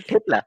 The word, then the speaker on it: thepla: Tipla? Oh, you get it. I mean, you'll not face any problems if you come to Gujarat, you come to Ahmedabad. You just tell Thepla, give me Thepla.